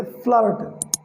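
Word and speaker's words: flirt: लिखा हुआ है कि जब कॉन्सोनेंट होता है और बीच में आई और आर होता है, ये आपको स्पेशली ध्यान रखना है। आई आर और फिर कॉन्सोनेंट होता है, देन ऐसे केस में आपको आई का उच्चारण आ करना पड़ता है, आ। फॉर एग्जांपल जैसे फ्लर्ट, तो एफ एल का हो गया फ्ला, फ्ला। आई का हो गया आ, फ्लर्ट, फ्लर्ट, फ्लर्ट, फ्लर्ट, ठीक है।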